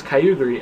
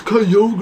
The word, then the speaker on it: Kyogre: I love him, and I know you guys are going to hate on me for saying Kyogre. You're going to say, oh no, it's Kyogre, or whatever. No, Kyogre. I don't care. I say Kyogre. That's how I pronounce it. That's how I will always pronounce it.